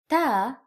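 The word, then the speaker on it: ت: Ta is pronounced like the T in English.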